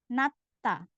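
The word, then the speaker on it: 낮다: sama diget, selanjutnya, maka dibaca juga sang diget, yang artinya dibaca T-nya tebal seperti meletup. Jadi bacanya nata.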